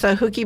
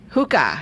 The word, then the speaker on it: hookah: of those Florida yeah Hookah Hookah that's how you pronounce it hookah yeah because I always mispronounce the hookah oh okay hookie is when you stay out of school oh that's right so